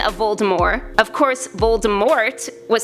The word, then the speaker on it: Voldemort: Dark Lord's name incorrectly the true pronunciation drops the T at the end of the name in true French fashion for the pronunciation of Voldemort of course Voldemort was